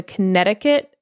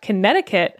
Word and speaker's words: Connecticut: took place along the connecticut shoreline in new haven county and one thing that i learned from this episode is that connecticut has a silent c it's spelt connecticut wow did you know